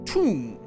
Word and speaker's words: Thumb: Thumb, pronounced tomb.